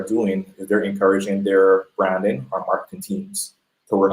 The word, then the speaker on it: Bhranding: It's BRANDING Uh-huh. plus HR equals BHRANDING. So it's still pronounced branding. The H is silent, but it's a way